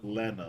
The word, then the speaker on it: Rena: Lena. Rena.